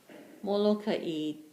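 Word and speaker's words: Molokaʻi: you're going to write m-o-l-o-k-a-i just like we have here on the map let me just switch okay people from molokai they pronounce it as molokai okay but people that's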